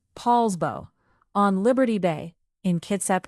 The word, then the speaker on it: Poulsbo: And number one is Poulsbo, pronounced Poulsbo, on Liberty Bay in Kitsap County.